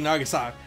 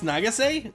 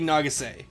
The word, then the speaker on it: Nagase: ko ichigo of the basketball team and daisuke nagasaki yeah i think it's nagase yeah daisuke nagase yes daisuke nagasaki that's how you say his